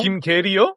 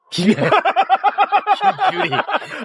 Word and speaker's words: 김규리: 김계리요? 김규리. 발음을 조금만. 김규리.